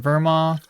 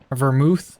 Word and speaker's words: vermouth: all of his items and then the bin Verma vermouth I should say keep on saying it wrong